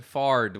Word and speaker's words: Fard: it you know again it does sort of sound like you're saying my name over and over again fart yeah last name is fard with the heat so